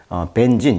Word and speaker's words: Benzene: 여기 보시면 벤젠이라는 거, 벤진, 영어식 발음은 이제 벤진이라고 하는데, 벤젠. 플라스틱이라든지 어떤 세제, 화학제품 생산에 사용되는 가연성 액체입니다. 그래서 이 벤진이 디스커버리, 벤젠의 발견이죠.